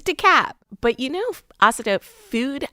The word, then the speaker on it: DeKalb: That hard L kills me every time. Where's DeKalb? It's not DeKalb. It's not DeKalb. It's not DeKalb. None of those things. It's DeKalb.